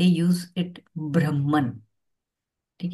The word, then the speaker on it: ब्रह्म: अब हिंदी में तो इसको हम ब्रह्म बोलते हैं। तो जब हम इसका प्रोनाउंसिएशन करते हैं तो लगता है कि भ्रम बोल रही हूँ, लेकिन ये भ्रम नहीं, ब्रह्म है।